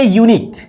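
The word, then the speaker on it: unique: यूनिक य से प्रारंभ हो रहा है, जो कि हमारा हिंदी का क्या है, कॉन्सोनेंट है, अर्थात व्यंजन है।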